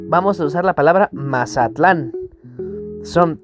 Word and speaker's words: Mazatlán: Mazatlán, en náhuatl se pronunciaría Mazatlán, en la penúltima sílaba.